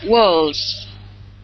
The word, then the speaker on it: walls: Okay, walls. There you go. Good. Good pronunciation. Z pronunciation. L is a voice sound.